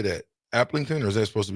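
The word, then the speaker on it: Aplington: Applington, or is that supposed to be, what is it? Look at that, Bach. Robbie in Iowa. Applington? Yeah. Yep. Applington, Parkersburg here in Iowa.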